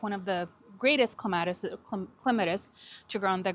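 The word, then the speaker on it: Clematis: Yeah, this is a clatus. Oh, it is a clatus. Cleatus actually is how you pronounce it officially for all those plant nerds out there.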